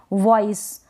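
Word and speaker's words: voice: वी का व और यहां पर लास्ट में ई आएगा तो उसको हम प्रोनाउंस नहीं करेंगे वॉइस वॉइस वॉइस का मतलब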